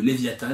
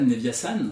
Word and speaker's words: Leviathan: on va tester le leviatan leviasan tu peux le prononcer de différentes manières suivant comment quelle origine tu es éventuellement leviatan leviasan voilà